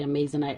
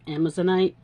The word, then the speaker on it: Amazonite: using those beautiful little, I always say Amazonite, I think they're actually pronounced Amazonite, tiny little 3mm faceted beads,